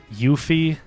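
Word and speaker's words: Yuffie: Yuthi like Y O U F I E.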